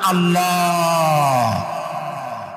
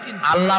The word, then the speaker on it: আল্লাহ: কি গুণ বলেন কি গুণাবলীতে বিশ্বাস আল্লাহর নাম আল্লাহ বলেন তো আল্লাহ নয় কিন্তু আল্লাহ হচ্ছে অশুদ্ধ শুদ্ধ হচ্ছে আল্লাহ বলার সময় মুখটা